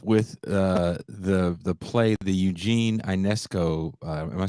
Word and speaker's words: Ionesco: Yeah, I think it's UNESCO, but I'm not sure. UNESCO. Sorry, I know it's a French name. We should actually ask our French co-host to pronounce it properly. Well, it's actually Ionesco.